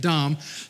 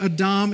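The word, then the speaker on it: אדם: And you may say Adam, but they pronounce it Adam. And the meaning of Adam in Hebrew is literally humanity.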